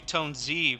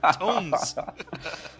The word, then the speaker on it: Tones: No I think worries, the first time I saw your tag, I called you Tone Z, but I was saying it wrong. Tones.